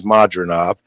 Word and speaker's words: Madrimov: Crawford and Israel uh munov you're hearing pronunciations of his name today all different ways but it is modov the three Division champion